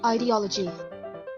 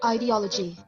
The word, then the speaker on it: ideology: Apparently, it is correct to say it both ways. But the version with the long I...